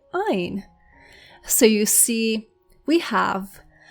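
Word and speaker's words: עין: The next word is Ain. Ain.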